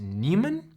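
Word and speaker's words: Niemann: Newman p disase and I think it's it's pronounced Neiman so Nemo Neiman Nemo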